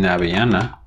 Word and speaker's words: avellana: Avellana, so the v in avellana, again, is pronounced like this.